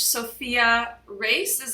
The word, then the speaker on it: Sofia Reis: And today I have Coach Sofia Reis.